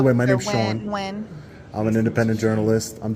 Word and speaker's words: Nguyen: Can you say it for me so I can know how to pronounce it? Stepping Wood. Nguyen? Yeah. Nguyen.